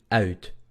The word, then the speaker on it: uit: El sonido es UI. Se pronuncia OU, OU, OU, OU, OU. Vamos a comenzar por hacer el y después U. Tenemos dos vocales. U, U, OU, OU. Au, au. ¿Ok? Este sonido es el más difícil porque requiere... Son dos sonidos redondeados en realidad.